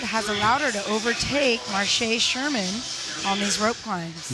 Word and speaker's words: Marcia: Just heard our floor announcer pronounce it Marche, so thank you.